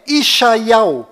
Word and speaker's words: ישעיהו: Isaías em hebraico legítimo lá em Israel é Ishaiau. Então, para ficar bem fácil a compreensão, eu vou desenhar na sua tela a transliteração deste nome em hebraico para você mesmo identificar a sua pronúncia, que é Ishaiau.